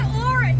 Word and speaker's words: Auris: Toyota Auris, and it rhymes with chorus.